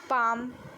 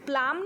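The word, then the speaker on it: palm: Word जैसे guard, बाम, पाम. ठीक है, हम ब्लाम नहीं बोलते, बाम बोलते हैं. हम प्लाम नहीं बोलते, पाम बोलते हैं.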